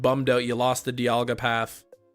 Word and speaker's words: Dialga: out you lost the Diga path I always say dalga but I found out it's Diga I know some people say Dialga like a diamond if breaking the law